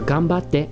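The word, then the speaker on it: 頑張って: use this all right if you want to say it correctly in japanese just be like ganbare or ganbatte right the actual thing you should say right there right on qf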